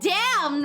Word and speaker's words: Dame: So you know, I'll never not say your name as Dame instead of Dam.